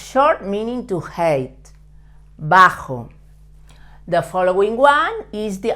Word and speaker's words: bajo: I also um taught how to pronounce the J in the last lesson with the word Mujer it's like when you say he but Ma with much more force and vibrating a little bit your throat so it's force with your throat bajo it means short